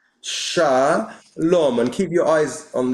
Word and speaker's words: shalom: So this is sha lom. How do I get rid of that now? Okay. Shaom. And then you have the second syllable is here. This is the second syllable. So we have shaom.